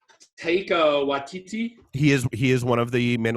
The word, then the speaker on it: Taika Waititi: I don't know how to pronounce the guy's name, but it's Taika Waititi.